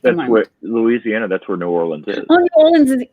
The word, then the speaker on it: New Orleans: I've got to get my pronunciation right. Can you say it again for me? New Orleans.